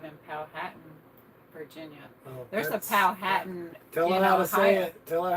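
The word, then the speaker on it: Powhatan: used to live in pohan Virginia there's a pow Hatten tell her how to say it tell her how to say it po hat it's patan oh well in Ohio it's poan in Ohio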